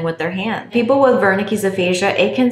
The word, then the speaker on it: Wernicke's: With Wernicke's aphasia, just think that someone is talking to you, perhaps in a different language, and you don't understand. So in German, the W is pronounced as a V.